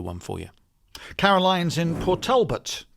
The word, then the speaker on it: Port Talbot: for you Caroline's in Port Talbot that's how you say it but Albert patalbert patalbert